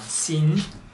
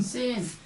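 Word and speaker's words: سين: sin, shin, sod, bod. 그래서 sin, shin, sod, bod. 주의해야 할 발음이 있기 때문에 오늘 한번 집중적으로 보겠어요.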